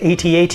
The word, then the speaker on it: AT-AT: to use the Harpoon is going against an at at Walker and yes you can definitely pronounce it AT-AT if you like but the official pronunciation from